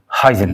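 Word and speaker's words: Huygens: हाइजन साहब ने। हम लोग हाइजन पढ़ेंगे, जो उधर का प्रोनाउंसिएशन है, जो नीदरलैंड्स का डच प्रोनाउंसिएशन है, वो थोड़ा सा अलग है, हॉक टाइप से पढ़ते हैं।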